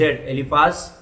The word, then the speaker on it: Eliphaz: अगर जो इंग्लिश में लिख रहे हैं वो सब, मैं फिर एक बार चारों नाम बताऊंगा, आप स्पेलिंग लिख लीजिए। ELIPHAZ एलिफाज, फिर BILDAD बिल्दाद, ZOPHAR जोफार, और ELIHU एलीहू, है ना।